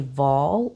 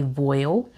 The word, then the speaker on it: voile: This is a voile or a voile. It's pronounced both ways. I myself pronounce it as a voile, and I'll put the name of this fabric on the screen here.